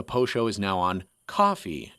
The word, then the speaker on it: Ko-fi: If you'd like to support the show, though, the Poe Show is now on Ko-fi. At least I pronounce it Ko-fi. I think it's also pronounced Ko-fi.